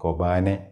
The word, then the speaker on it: Kobane: ആ യുദ്ധത്തിൻ്റെ കഥ യഥാർത്ഥം എന്ന് തോന്നത്തക്ക രീതിയിൽ തന്നെ അതുപോലെ നമ്മളുടെ മുമ്പിൽ പ്രസൻറ്റ് ചെയ്ത പടമായിരുന്നു ഈ കൊബാനെ എന്ന് പറയുന്നത്. കൊബാനെ, കൊബാനി എന്നൊക്കെ അതിൻ്റെ ഉച്ചാരണം പല സ്ഥലത്ത് പല രീതിയിൽ പറയുന്നുണ്ട്. KOBANE, കൊബാനി.